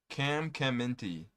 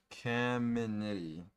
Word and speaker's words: Caminiti: Cam Caminti. I said his name wrong. Caminiti.